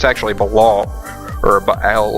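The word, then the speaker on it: Baal: longer call me and uh it's actually balal or Bal how do you say it Bal thank you okay yeah so it's Bal and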